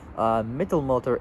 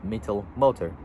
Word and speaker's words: Mittelmotor: Mittelmotor is spelled Mittelmotor, or just I'll say Mittel and then motor. So Mittelmotor, put it together as Mittelmotor, or mid-engine, as right,